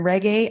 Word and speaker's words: Rege: And I'm Rege, I am the Dean of Online Learning and Media Services at the Community College of Philadelphia. Yes, my last name really is pronounced like "reggae," like the music, and I am a musician.